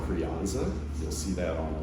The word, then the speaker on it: Crianza: And actually it's, what I read recently is it's pronounced with a TH instead of that Z at the end, so it's Crianza.